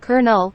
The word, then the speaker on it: colonel: yes you are correct the word Colonel is indeed pronounced as kernel or kernel which is quite different from its spelling it's one of those